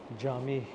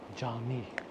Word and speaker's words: Cami: Jami is the Turkish word for masjid. Jami. C-A-M-I-I. They pronounce these C's as J.